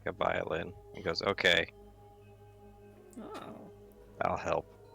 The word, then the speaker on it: viol: takes out a vial which is like a violin and goes okay i'll help viol is how it's pronounced viol oh we all just uh subclass